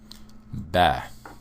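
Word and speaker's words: Б: B. So it looks somewhat different, but it is pronounced similar to the English B, like B as in boy.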